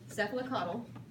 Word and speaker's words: cephalocaudal: Cephalocaudal.